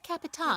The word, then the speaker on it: Capitan: The word Capitan. It's the Portuguese pronunciation of the word captain, but rather than translating